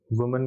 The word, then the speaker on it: women: अच्छा, एक चीज यहाँ पे WOMEN, यानी ये औरत, वुमेन का प्लूरल है, तो अगर सिंगुलर होता तो MAN होता वुमन, और प्लूरल है तो WOMEN, लेकिन इसको प्रोनाउंस कैसे करते हैं? वीमन।